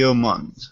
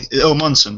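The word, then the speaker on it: Omundson: the show and uh his name is Timothy omand if I'm pronouncing his name right uh got his one omson sorry it's Timothy omson now for those who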